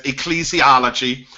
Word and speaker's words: ecclesiology: know what it is am I'm pronouncing it right by way you're pronouncing it right it is called um it is stated as ecclesiology um It's a combination